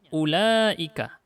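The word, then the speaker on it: أولئك: bacanya ulek bukan Hai pula wownya hanya tulisan tapi tidak diangkat nanti kita bahas tentang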